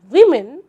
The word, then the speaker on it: women: In women, strangely, the O actually stands for the sound E, and in nation, the TI stands for sh.